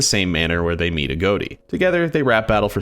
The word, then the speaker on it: Agoti: Last AGOTI video, people were telling me his name is pronounced AGOTI or even AGOTI, but in the Captain Jack Attack video, interviewing the creators of AGOTI, the creator of the character pronounces it AGOTI.